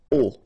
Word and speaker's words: aux: at all, and then a plus les will become o, AUX, but then remember that phonetically it's o.